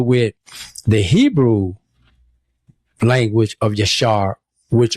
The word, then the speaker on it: Yashar: It's it's that's that's what you do when you talking about Yasha and that's spelled y a s h a r.